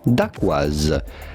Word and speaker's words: Dacquoise: We are looking at how to pronounce with a typical French pronunciation, Dacquoise.